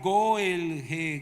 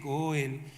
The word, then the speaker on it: goel: Apréndase esta palabra, la palabra goel goel. Y esta palabra, si usted va a Israel, eso lo pronuncia mucho. La palabra goel significa el pariente redentor, el goel. Goel. G de gato. O e l.